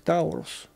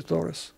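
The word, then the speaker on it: Taurus: Ну, иногда, наверное, его читают как Таурус, но произносится по-английски Торос.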